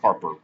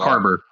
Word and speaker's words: Harbour: Maybe it is just like because I like David is it Harbour or Harper? I've been saying it wrong. Harbor. There's Harper. a B there. Okay, it's a B, not a P.